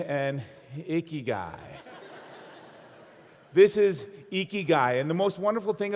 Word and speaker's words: ikigai: pronounce it it's pronounced ikigai you lift your cheeks like you're smiling it's icky guy say it with me